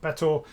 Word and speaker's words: Betor: I assume it's pronounced Bettor. It makes it easier for uh my jokes to land if it's pronounced the same as better.